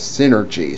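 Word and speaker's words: Psynergy: strange power known as synergy, spelled with a silent P in front as in psychic.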